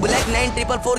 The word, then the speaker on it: BlackN444: जी हां मैं यहां बात कर रहा हूं ब्लैक 9 ट्रिपल4 के बारे में। नहीं नहीं मैंने नाम गलत नहीं प्रोनाउंस करा। इसका नाम ऐसी ही है ब्लैक 94। ये जो एन है उसका फुल फॉर्म नाइन है।